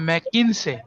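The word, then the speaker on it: McKinsey: एक नंबर जोटा ये अंके सर प्रोनाउंसिएशन का मैडम मैग्नीसिस मैग्नीसिस आपण जोंती प्रोनाउंस करंतु किछ असुविधा नै हैला मैग्नीसिस कोइ परिबे मैग्नीस कोइ परिबे से डेवलप करथिले 7S frame ma'am मैकिन्से मैकिन्से मैकिन्से भी कोइ परिबे मैकिन्से इट इज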